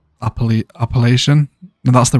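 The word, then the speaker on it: Appalachian: so good alopecia yeah i said alopecia mountains didn't i and it's actually pronounced appellation oh yeah that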